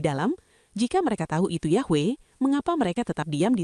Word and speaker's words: Yahweh: Konsensus itu menyatakan bahwa pelafalan asli dari nama Tuhan Israel yang dituliskan dengan 4 konsonan YHWH dalam teks Ibrani sangat mungkin adalah Yahweh.